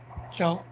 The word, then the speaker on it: ciao: Ciao. Ciao. Ciao. Exactly. So this is an Italian word, okay, but still this is very frequently now used in Spanish conversation.